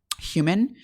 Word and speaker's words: HVMN: The company is called Human, but it's spelled like HVMN.